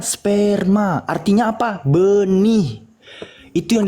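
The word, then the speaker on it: σπέρμα: Dibacanya sperma, artinya apa?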